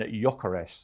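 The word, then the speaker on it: Gyökeres: from the Premier League with all the players pronouncing their own names. So I'll do my homework. And so it is Sesko and Gyokeres.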